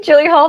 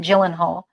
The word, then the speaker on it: Gyllenhaal: I say Gyllenhaal. That's not how you say his name. Gyllenhaal.